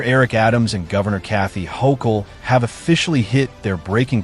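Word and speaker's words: Hochul: Uh, what do you New Yorkers think of how Mayor Eric Adams and Governor Kathy Hokll Yes. Yes. You pronounced it right.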